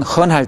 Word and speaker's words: 很: 네, 어, 헌 할 때 어 발음을 내주면 듣기에 훨씬 좋습니다.